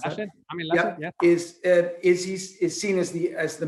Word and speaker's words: Laschet: How do I pronounce that? Laschet, yeah.